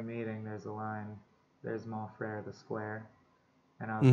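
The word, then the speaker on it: Mon Frère: There's Mon Frere, the square, and I was worried Katie wouldn't. I don't know if she would know how to pronounce Mon Frere and that it would rhyme with square.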